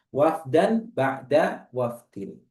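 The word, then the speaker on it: وَفْدًا بَعْدَ وَفْدٍ: Ini bacanya wafdan ba'da wafdin.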